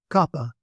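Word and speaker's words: κάππα: So that is K as in book.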